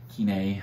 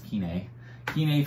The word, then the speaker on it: Kenai: to the kenai fjords quinee sorry i keep mispronouncing its keaney fjords national park went on